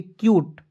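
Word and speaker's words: cute: सी यूटी ई तो बहुत लोग इसे कूट पढ़ लेता है जो कि दोस्तों इस तरह से आपको कभी भी नहीं पढ़ना है ठीक है देखिए मैं यहां पर समझा रहा हूं दोस्तों सी य टी ई को दोस्तों पढ़ेंगे क्यूट अब क्यूट पढ़े तो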